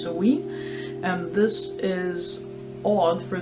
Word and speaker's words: Samhain: So this month's box, which is April, is dedicated to something that's spelled as Samhain but actually pronounced Samhain, and this is odd for those of you in the Northern Hemisphere because usually this is Halloween.